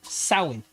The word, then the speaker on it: Samhain: The origins of Halloween trace back to the an ancient Celtic festival of Samhain, pronounced Samhain, celebrated over 2,000 years ago, primarily in the region now known as Ireland, Scotland, and northern France.